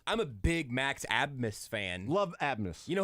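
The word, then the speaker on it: Abmas: you do that but pronouncing a b as an S nope can't do it I'm not gonna do it that's asimus I'm a big Max abness fan love abness you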